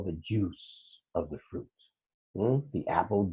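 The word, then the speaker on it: juz: day it's called The Juice yeah it's spelled juu Z but it's called a juice you know so the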